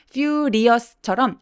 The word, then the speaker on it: furious: 너무나 중요한 키워드이기 때문에 furious처럼 R은 입술 쭉 내밀어서 혀끝이 천장에 안 닿게 fury가 아니라 furious 이렇게 R 발음 참고해 주세요.